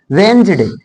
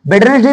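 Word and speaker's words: Wednesday: sound की बात करेंगे वेंज डे वेंज डे मीस होता है बुधवार अब तुम लोग वेडस डे मत बोलना बेंज डे बेंज डे इसको स्टा टुडे इ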